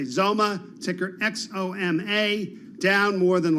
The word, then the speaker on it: XOMA: do that for you it's zoma and that's spelled x-o-m-a uh that's not the